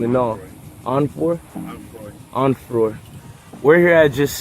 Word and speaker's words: Onfroy: Onfroy.